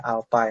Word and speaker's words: alpha: Kalau di percepatan itu simbolnya A, kalau di percepatan sudut ini simbolnya alpha, membacanya ya, alpha ya.